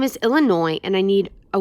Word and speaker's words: Illinois: Yes, my name is Illinois, and I need a 1 airline ticket to, Illinois. No, the S is silent.